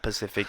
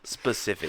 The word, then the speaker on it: specific: And then when you say, "It's not Pacific, it's specific."